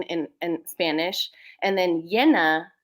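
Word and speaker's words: llena: in Spanish and then yenna with the double l n a is full so full moon is Luna yenna and um in Spanish it can be pronounced Jenna or Yen and so in so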